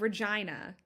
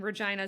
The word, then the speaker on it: Regina: Um that's it's in Saskatchewan and this is the correct pronunciation. Um I went to the University of Regina in Regina, Saskatchewan.